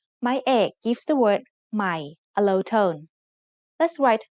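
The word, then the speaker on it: ใหม่: Notice that there is an initial consonant cluster formed by a silent letter hỏ ห ี บ, followed by ma. This means the word will start with the initial sound m of ma, but that letter will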